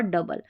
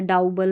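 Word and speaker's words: double: Young, country, ट्रबल और डबल। तो ऐसे आप इनको अभी आपने पढ़ लिया जैसे मैंने पढ़ाया यंग, कंट्री, ट्रबल, डबल तो आप कंफ्यूज नहीं होंगे। इसको काउंट्री नहीं पढ़ेंगे, ट्राउबल या डाउऊबल नहीं पढ़ेंगे।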